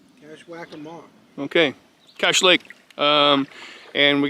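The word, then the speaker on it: Kashwakamak: Can you pronounce it again? It's Cashwackamock.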